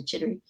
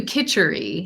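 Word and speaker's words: kitchari: the roughage and the jittery. Am I pronouncing that correctly? Oh, we do kitchery.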